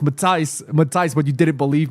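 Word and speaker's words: Matthijs: Makio says, "I told you from day one is pronounced Mati."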